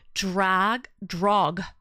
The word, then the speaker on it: Drogmord: Pronunciation of my name is Drogmord.